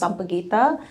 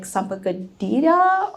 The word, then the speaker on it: sampaguita: a regular basis is how to pronounce sampaguita and what it is. A lot of people will be like sampagadita or some, I don't know. They say it very random way.